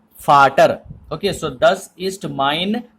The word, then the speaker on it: Vater: Okay, that's why it will not be pronounced as water, but it will be pronounced as Vater.